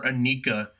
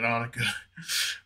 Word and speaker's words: Annika: Next up, we have Annika, and a lot of people are calling her Anika, and I'm like 99% sure that's not how you're supposed to pronounce it. And if I'm wrong, sorry about it, Annika.